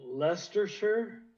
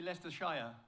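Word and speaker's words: Leicestershire: I I was at the first one in Leershure. Am I saying it right? Leershure. I think you say Lester Shire. Yeah, we say Shia.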